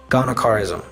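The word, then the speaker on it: gonochorism: It's I'll spell it out. It's G O N O C H A R I S M. Ghanaism.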